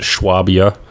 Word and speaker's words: Swabia: Then King Philip of Swabia, over there they're probably going to pronounce it Schwabia.